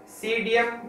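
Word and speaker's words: Psidium: और फोर्थ आता है गुआवा, गुआवा का होता है सीडियम गुआजावा। अब यहां पर पी साइलेंट है, ध्यान रखना, सीडियम, पी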